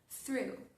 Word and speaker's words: through: La palabra donut sigue el mismo principio y la palabra through. Through que tiene un montón de letras y pronunciamos la mitad.